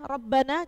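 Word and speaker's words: ربنا: berharakat fathah Tan tanwin contoh Rabbana ya rabbana rnya berharakat fad r-nya Rabbana coba dilihat contohnya Rabbana rnya berharakat fat fathah jadi r-nya dibaca te tebal yang kedua basiron basiron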